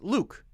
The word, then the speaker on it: Luke: People can call me Luck. You can call me whatever you want. But you should know from me saying my own name that it's pronounced Luke.